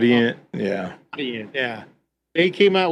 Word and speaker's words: Audient: I think that's how you pronounce the brand. Audient, Audient, yeah.